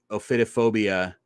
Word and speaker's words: ophidiophobia: Ophidiophobia.